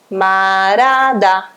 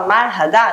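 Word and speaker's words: 말하다: Ele vai sumir e vai ficar o quê? Marada, marada. Essa é a pronúncia de marhada. Se você falar marhada, não tem problema algum, tá correto, tá?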